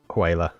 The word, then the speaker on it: HWYLA: The next one is it's a form of whaler, but it's called I won't try and pronounce it phonetically. I will spell it HWYLA. Whaler.